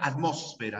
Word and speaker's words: atmósfera: hoyosfera estratosfera o estratosfera salvo la palabra atmósfera no que solo se pronuncia como esdrújula la terminación mancia también